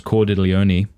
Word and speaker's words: Cordileone: And, of course, Cordileone, that's how you say his last name, isn't it?